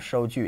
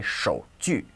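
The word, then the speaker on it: 收据: And it's important not to, don't mix up the pronunciation of 收据. It's not, it's normally handwritten, but it isn't the character for hand. So don't say 手据, because that means a hand saw, okay?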